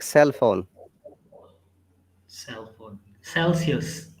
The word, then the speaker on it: Celsius: Celsius. Celsius.